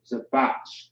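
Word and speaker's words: זבח: So Zabach is how you pronounce it.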